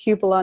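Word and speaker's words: cupola: a Cupa which I found out it's actually pronounced Cupa not Kupa which I think a lot of people pronounce it Koopa but it's Cupa and it's the little it's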